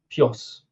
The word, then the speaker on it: PJOS: because PJOS is the correct way to pronounce it, right?